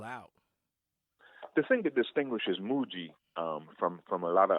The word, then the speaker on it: Mooji: you pronounce Mochis name Mooji Mooji between mo old ji Mooji you hit me